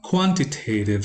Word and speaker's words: quantitative: this is super common quantitative stress or primary stress should go on the first syllable and not on the second one uh qualitative also is